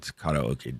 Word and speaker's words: karaoke: For all you people who mispronounce karaoke, it's karaoke, damn it. There's no E in that word at the beginning.